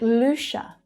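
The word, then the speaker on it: Saint Lucia: Lucia. The stress on the first syllable is ooh. Then CIA is pronounced as sh.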